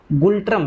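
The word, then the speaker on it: Ngultrum: राजधानी इसकी थिम्पू है, सभी को पता होगा, और जो मुद्रा है इसका ये भूटानीज गुल्ट्रम है, ठीक है, ये एन साइलेंट है, गुल्ट्रम इसको बोल देना, भूटानीज गुल्ट्रम हो गया।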